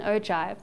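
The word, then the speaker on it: ogive: has a funny name it's called an oi but spelled with a G it's got a curve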